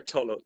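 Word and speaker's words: Tulloch: it's it's tullo t-u-l-l-o-c-h hello okay just silent the CH is silent okay I had a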